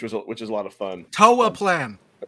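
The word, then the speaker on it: Toaplan: the Capcom, Irem, and Toplin, which is a lot of fun. Toa Plan. You said potatoes. I know you'll. If you're gonna pronounce it incorrectly, do it on purpose.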